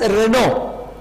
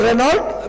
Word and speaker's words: Renault: he india uelt reynold in french language we pronounce this as renault so renault we are a company